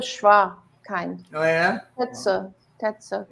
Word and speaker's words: Tetsu: So in reverse, it's te tsu.